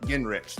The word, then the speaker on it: Guengerich: Guengerich. There's a lot of silent letters in that name.